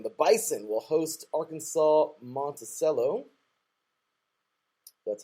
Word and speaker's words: Monticello: And I think, getting to the end here, Harding, the Bison, will host Arkansas Monticello.